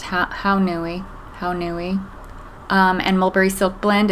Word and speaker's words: Haunui: This is some Pearl Haunui, I actually think it's pronounced Haunui, and Mulberry Silk Blend.